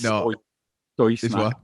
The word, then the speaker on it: Stoj Snak: How do you say it? Stoj. I say Stoj. Yeah, well, we did for ages, but apparently it's Stoj Snak. Apparently it's Stoj Snak, but who knows?